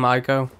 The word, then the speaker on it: Ico: Pronounce that? Team ICO.